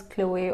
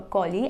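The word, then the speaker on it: Cholly: You can pronounce it as Chloe or Collie as you wanted to.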